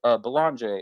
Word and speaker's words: Belanger: How do you say your last name?" And he goes, "Belanger." And I was like, "Dude, I'm sorry, I've been butchering your last name this whole episode." He goes, "You're American. It's okay." He's Canadian. So he's like, "That's how Americans say it. It's not a big deal to me."